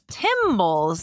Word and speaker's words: timbals: So not cymbals like in a band, timbals, spelled the same but with a T instead of a C.